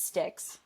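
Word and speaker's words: Styks: Yeah, it was um a Jimmy Sticks or Stikes. I hear people say it like both ways, so I I've never actually known the name of this brand. Um but it was it was a Jimmy I'm pretty sure it's Sticks.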